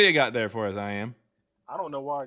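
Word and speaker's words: I.AM: It's pronounced I am. Oh, okay. Well, the first word, I, is spelled like I, like an eyeball. And then it's a dot. And then you put AM all caps.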